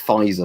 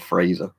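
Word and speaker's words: Pfizer: a decade meals renamed he still said it wrong it's fizer not fraser um that sounds good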